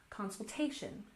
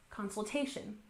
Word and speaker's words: consultation: Next, we have consultation with the main stress on the third syllable, consultation, consultation. So sometimes you see your